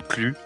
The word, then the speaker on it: Klu: Donc, mon pseudo, ça peut se prononcer de différentes façons. Calu comme Clu.